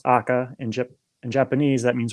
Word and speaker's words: AKA: chose tires and aka means akka or it's pronounced akka in in japanese that means red and kyo